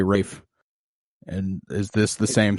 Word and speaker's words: Ralph: know where it's like no that's just not how Rafe is spelled you know it's about Ralph but we're gonna say Rafe and is this the